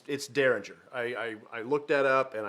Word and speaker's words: Dareringer: Now, I looked to make sure I was pronouncing that right, because you don't know if it's that or Dareringer. It's Dareringer.